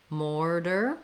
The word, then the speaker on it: mortar: tight back american r mortar is just like order with an m as well um then